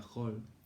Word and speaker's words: Hall: Pronunciado bien en inglés sería Hall, Joseph Hall, 1574 al 1656.